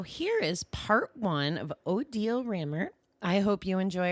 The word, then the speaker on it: Odille: absolutely hello everyone I'm odal and to remember how to pronounce my name if you think of Deal or No Deal is the way to remember it and I've been on